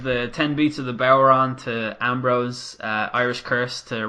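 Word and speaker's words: bodhrán: He gave the 10 beats of the Boweron to Ambrose, Irish Curse to Rollins, and then a Brogue Kick to Roman.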